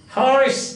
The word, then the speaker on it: Horace: Horace, that is the pronunciation, but some people pronounce it as a Horace. Horace, this is the pronunciation, Horace. You can look up the dictionary and see. But some people pronounce it as Horace.